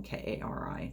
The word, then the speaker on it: Kari: that's just not common i've been told that it's a scandinavian name so like if i went to like switzerland or norway or something i would probably find with my name on it everywhere they pronounced it kari there but it's with my